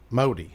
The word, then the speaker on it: Modi: Modi.